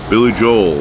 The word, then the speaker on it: Billy Joel: once again thank you Billy Joel I pronounced the L um I overemphasize it because a lot of times when I say it fast sounds like I'm saying Billy Joe and you know Billy